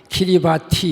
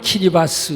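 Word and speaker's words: Kiribati: 영어로는 K-I-R-I-B-A-T-I 키리바티 이렇게 되는데 발음은 키리바스 이렇게 하고 마샬 아일랜드 이런 데를 저 가봤는데 마샬 아일랜드 호텔에 가면요 라이프 재킷가 있습니다.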